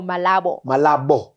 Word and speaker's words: Malabo: No, Malabo.